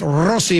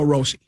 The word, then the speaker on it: Rossi: If you can roll your R, then it's Rossi. If you can't, just go Rossi.